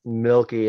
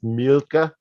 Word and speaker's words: Mielke: Milky, and it's like it's an Americanization of a German name, which is pronounced Mielke, but like who's gonna pronounce Mielke everywhere you go, right? So it just turned into Milky because the last letter is an E.